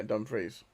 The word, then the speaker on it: Dumfries: I'm pronouncing it like the Scottish town. That's how I pronounce it, yeah, Dumfries.